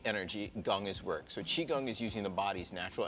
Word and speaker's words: qigong: Well, you also practice something that's called qigong, correct?